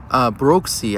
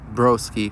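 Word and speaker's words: Brooksy: When it comes to commentating, shout out to Broxy. Actually, I was told that I mispronounced his name. It was actually B-R-O-O-K-S-Y, not broski, which is something you say here in America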